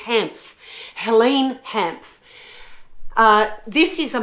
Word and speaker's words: Hanff: I can never pronounce her name. It's Hanff.